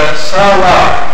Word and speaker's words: Selah: And Selah is Salah, is how it's actually pronounced.